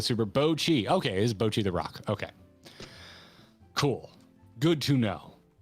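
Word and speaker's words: Bocchi the Rock: Is it Boki? If there were correct pronunciations earlier, I missed it.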